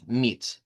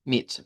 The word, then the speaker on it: mit: Lo que va a cambiar aquí es que esa i va a ser una i corta, que es este símbolo. Eh, decimos que es como un como que fuera una i mayúscula, pero que en realidad es una i corta. Vean, mit, mit, muy corto.